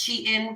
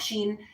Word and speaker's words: SHEIN: know on um Sheen I know it's pronounced shein but I call it Sheen they have tarot cards